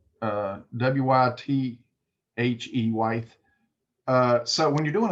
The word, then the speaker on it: wythe: So when you're doing a single wythe, and that's the way it's spelled, W-Y-T-H-E, wythe.